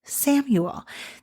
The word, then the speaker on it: Chamuel: Chamuel can also be pronounced Samuel.